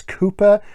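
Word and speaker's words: Cowper: um is richard calper i call him copa i know it's cooper i call him copa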